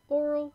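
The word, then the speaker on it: aural: This one, it's still pronounced the same, I'm pretty sure, but it's AU, not O.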